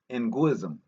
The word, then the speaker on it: Ngunzism: In diverse forms, the movement continued clandestinely as Nguism, prophetism. Nguism, as spelled Ngunzism, and in African culture, the Ng is pronounced Ngu, Ng, and the U, Ngu-ism, right? Ngunism.